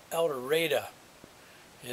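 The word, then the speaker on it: El Dorado: another one when I get to uh Elder Elder and it spelled Eldorado was where the next town over but it's pronounced here eldera it's NE spelled Nevada County well now this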